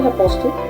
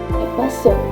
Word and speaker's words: apostle: Did you say apostle? No. That's incorrect. It is apostle. Apostle.